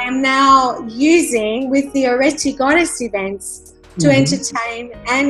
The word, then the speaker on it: Areti: So I heard of this amazing name called Areti. Am I pronouncing it correctly? You are. It's actually, in Greek it's Areti, but Areti is an ancient Greek mythology goddess.